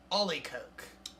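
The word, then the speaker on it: olykoek: Oh, actually, there's a whole pronunciation right here. Ollie Coke.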